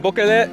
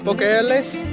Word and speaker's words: Boquillas: Boqueles? Boquillas.